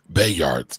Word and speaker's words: Bayard: Monica says Bayard. All right. So, yes, I was saying it wrong.